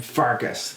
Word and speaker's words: Pfarcus: Welcome to the Aged Gamer with Wide-eyed and Pfarcus. The P is silent.